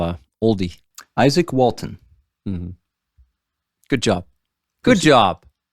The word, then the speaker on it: Walton: what's his name wal Walden really Isaac Walden I think it's Walton Walton Isaac Walton right yeah is it ISAC